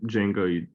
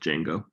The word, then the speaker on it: Django: And so you know, when you say Django, the D is silent, so it's just Django.